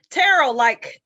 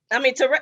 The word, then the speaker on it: Terrell: Terrell, Terrell, look at me.